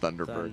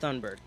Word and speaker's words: Thunberg: I walked around for months after that going, oh my God, if Greta Thunberg, her name's not Thunderberg. Thunderberg. No, it's I don't know what it is. Thunberg, I think.